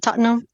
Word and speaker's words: Tottenham: play for tottingham to Tottenham is how it's well that's how I I was told to pronounce it Tottenham sorry UK people yeah totam and yeah and he